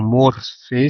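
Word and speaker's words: μορφή: Como eu disse no início, morfologia vem do grego, é a palavra morfê, tá bom? Ou morfê, se você quiser pronunciar mais próximo da palavra grega, com a palavra logia ou logos, tá?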